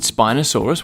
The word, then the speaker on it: Spinosaurus: Spinosaurus.